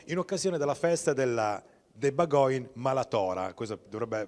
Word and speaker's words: Bagòn: di villa torlonia in occasione della festa della debba going malato dovrebbe pronunciarsi più o meno così ovvero la festa fondamentalmente del maiale perché bagoin in dialetto romagnolo significa appunto maiale ci sono